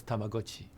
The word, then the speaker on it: Tamagotchi: By the way, the next keychain game that came after that was Tamagotchi. So we started hey, he pronounced it right.